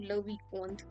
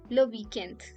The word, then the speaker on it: le week-end: Now don't pronounce it like le weekend. It is weekend, le weekend, the weekend.